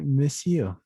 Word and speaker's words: monsieur: Es decir, que la E aquí no se pronuncia y simplemente es como decir monsieur.